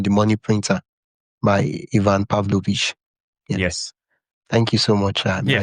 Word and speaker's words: Pavlovic: It's Ian Pavlovich.